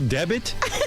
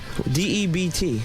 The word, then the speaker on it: debt: A special debit? Debit? Spell the word. D-E-B-T. All right, now spell it out.